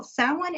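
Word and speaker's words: Samhain: we're leading up to Halloween or sin now sin is looks like it would be spelled Sam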